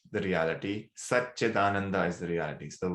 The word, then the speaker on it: Satchidananda: So the word again is Satchidananda. Sat is truth. So this is the Sanskrit called Sandhi, where when you join words, the pronunciation changes. So Sat and Chit becomes Satchit.